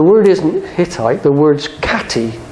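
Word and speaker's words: Khatti: know that the H is as to be pronounced as a KH and historians realize that the word isn't hittite the word katti k h a t TI for the place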